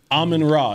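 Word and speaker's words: Amon-Ra: What's the pronunciation at the bottom? Amon Ra.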